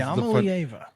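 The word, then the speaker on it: Iamaleava: But Nico Iamalieva is Iamalieva, not Iamalieva.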